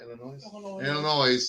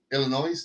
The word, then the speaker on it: Illinois: Illinois Yes. has You don't pronounce the S. Illinois, no? Illinois.